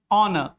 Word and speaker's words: honor: Like in the word honest, hour, honor, air. In all these words, H the sound of H is silent, and it is sometimes